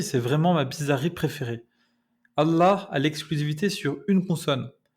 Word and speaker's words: Allah: Vous pouvez faire encore un peu plus d'effort en prononçant le L géminé. C'est comme si vous allongiez le L. Donc Allah, Starfullah, Wallah. Ça sonnera un peu mieux, mais ça sonnera pas encore tout à fait arabe. Si vous voulez sonner vraiment authentique, il faut prononcer Allah, Allah, Allah, avec un L emphatique. Allah, Allah. Allah et ses dérivés sont les seuls mots en arabe à posséder cette consonne.